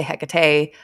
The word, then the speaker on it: Hecate: Other people say Hecate, Hecate. There's a whole bunch of different pronunciations. They're all equally relevant. Yeah. I say Hecate, I think. I don't know. I do the E just because of Persephone.